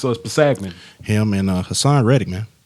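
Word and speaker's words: Kpassagnon: I think it's Pasagnan. Pasagnan? And the K is silent, so it's Pasagnan.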